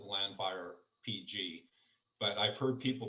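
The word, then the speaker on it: Llanfair PG: there that's the nickname so everyone calls it landfire pg but i've heard people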